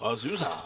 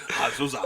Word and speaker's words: Azusa: Azusa. Don't say it like that. Azusa, California.